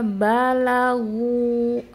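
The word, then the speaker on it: بلغوا: Idza balaghu. Ya, huruf lamnya jangan lo. Jangan ikutan tebal karena huruf gin huruf tebal. Idza balaghu pada saat dia sukun.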